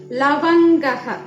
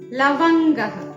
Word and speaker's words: ലവംഗഃ: അപ്പൊ നമ്മള് നേരത്തെ പറഞ്ഞിട്ടുണ്ടായിരുന്നു ഉച്ചാരണത്തില്, സംസ്കൃത ഉച്ചാരണത്തില് ലാ വരുമ്പോ ലേ എന്ന് പറയരുത്, ലാന്ന് തന്നെ ആ ഉച്ചാരണം, അതിന്റെ ലായുടെ ശബ്ദം അതുപോലെ തന്നെ വരണം. അപ്പൊ ഇത് വായിക്കേണ്ടത് ലവംഗഃ. ലവംഗഃ.